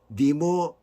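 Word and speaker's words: נמרוד: 그러면서 세상에 첫 용사라고 하고 있습니다 이름은 히브리어로 발음으로 니모로드 림으로도 일본 사람들이 발음하는 거 같아요 그것은 그가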